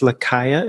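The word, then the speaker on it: Lucaya: And I love how much and I know the new album is named after, it's Lakaya is how you say it, and that's back home as well, right? Lakaya, that's like a place.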